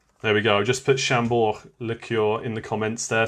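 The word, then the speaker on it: Chambord: we go just put chambor liqueur in the comments there so you can see how it's spelt but you don't pronounce the d but what flavor is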